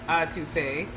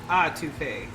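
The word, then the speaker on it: étouffée: We've already had a very long, very extensive conversation today about how to pronounce Entouffee. There are people who are insisting it's Entouffee. There are some people who are insisting it's Entouffee, like AH or EH.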